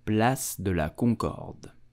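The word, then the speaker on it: Place de la Concorde: my channel to support my work back to pronunciation you will say bless de la Concord plus the LA Concorde plus de la Concorde did you know that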